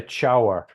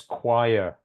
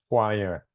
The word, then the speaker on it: choir: We don't say chower or choir. It's choir. Like a q sound, choir.